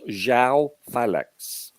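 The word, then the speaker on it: João Félix: approach by the way his name is pronounced Zhao phallux is all what so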